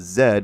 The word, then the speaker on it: Z: Z said as Zed as Brits pronounce it.